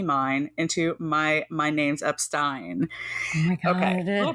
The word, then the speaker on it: Epstein: to correctly pronounce Brian Epstein's last name and yes it is Epstein it is notep that is the one